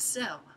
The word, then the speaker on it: Sell: It is book tell with Cell. I know it's supposed to be book talk, but tell rhymes with cell, so that's how it's going.